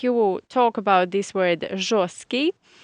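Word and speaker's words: жёсткий: Or the opposite is жесткое мясо. Жесткое мясо. And be careful here, because if you talk about this word жесткий, we write t in the middle, but it is silent.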